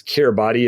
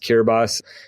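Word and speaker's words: Kiribati: It's Kerati. If you look at it looks like but it's pronounced Kerbas.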